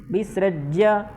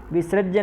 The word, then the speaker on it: विसृज्य: एवमुक्त्वार्जुनः संख्ये रथोपस्थ उपाविशत् विसृज्य सशरं चापं विसृज्य सृज्य, ठीक, विसृज्य नहीं है, बहुत सारे लोग विसृज्य पढ़ते हैं, विसृज्य सशरं चापम, ऐसा नहीं, विसृज्य यह है अंत में और उसका पूर्ण उच्चारण करना है।